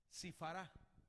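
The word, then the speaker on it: שִׁפְרָה: Esta palabra limpia es la palabra que Job utiliza en este pasaje, y es una palabra que se pronuncia así, Sifará, que quiere decir con el soplo les da claridad.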